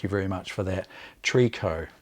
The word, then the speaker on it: tricot: very much for that tree co is how tricot is actually pronounced trico so entreco is